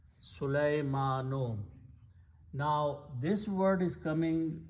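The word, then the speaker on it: سليمانُ: The word is Sulaymanu. The original sound of the word is Sulayma, and the last letter noon has a pesh or a dhamma. Sulaymanu.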